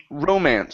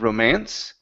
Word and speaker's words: romance: This is romance. So the stress is at the very beginning instead of romance.